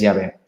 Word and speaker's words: Yahvé: y entonces le llamamos, en la Biblia se le llama Jehová, ¿vale? Pero bueno, ya sabéis que se pronuncia distinto, entonces es Yahvé.